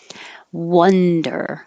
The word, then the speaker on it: wonder: the sh in there wonder the vowel is uh like up wonder i wonder